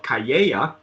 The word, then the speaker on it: Cayeya: And so Samuel Hirsch, he's the founder of Piermont Brands, who is the importer of Cayeya, and that's how it's pronounced.